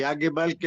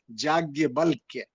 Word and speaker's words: याज्ञवल्क्य: और याज्ञवल्क्य बोलते हैं, नाम थोड़ा सा संस्कृत में ऐसा है कि उच्चारण में दिक्कत हो जाती है। याज्ञवल्क्य, याज्ञवल्क्य सब सब सब संयुक्त है।